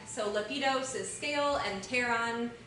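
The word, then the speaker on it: pteron: So lepidos is scale and teron the p is silent is wing.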